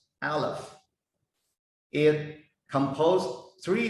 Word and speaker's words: Aleph: However, when we read this letter as a single letter, it should pronounce Aleph. It composes three letters in order to pronounce the single letter word, Aleph.